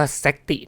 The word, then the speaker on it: Zakti: ชื่อ ว่า Zy โอเค อ่าน ว่า แซติ นะ ครับ เดี๋ มี คน มา